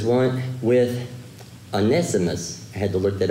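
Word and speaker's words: Onesimus: out now verse nine it says one with anessimus i had to look that up today to pronounce it correctly with an estimates of faithful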